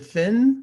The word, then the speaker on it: Fionn: pronouncing your name right is it fiona or is it finn because i looked up on the internet in pronunciation it said finn but i it's it's fiona but the first one was pretty close okay fiona okay uh